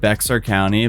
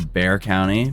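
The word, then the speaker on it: Bexar County: This is kind of like that one video I covered recently where it's like I said Beexar County, but it's Bear County because the X is silent.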